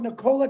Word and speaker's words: Nikola: You're talking about Nikolai Tesla. No, it's Nikola, actually, if you pronounce it correctly.